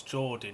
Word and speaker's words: Jordi: I don't know how to say this, but it's Jordi, not Jod.